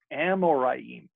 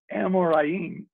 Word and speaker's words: Amoraim: Amoraim. And you pronounce it just the way it's spelled. Amoraim.